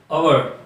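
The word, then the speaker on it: hour: अंदर, तो उसका स्पेलिंग पहला अक्षर कौन सा है? एच है। ओके, मगर ये लिखता है तो है कॉन्सोनेंट है, मगर ये साइलेंट है, जो एच है वो साइलेंट है, उसका प्रोनाउंसिएशन होता है ओ से, तो उसके सामने लगेगा एन ओवर।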